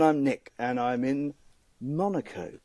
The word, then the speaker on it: Monaco: Nick and I'm in Monaco or monacco as we should say it properly in the Sterling Moss fashion Monaco and Monaco uh